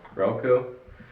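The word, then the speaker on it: Rehlko: yeah it I don't know how you would pronounce itco relco relco r e h l KO and isn't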